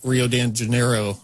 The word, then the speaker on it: Rio de Janeiro: So now you got this whole city, Rio de Janeiro, I believe is how you pronounce it.